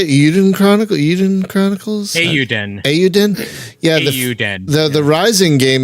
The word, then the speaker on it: Eiyuden: Eiyuden.